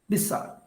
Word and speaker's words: beside: For example, beside. Beside. The last E is not pronounced.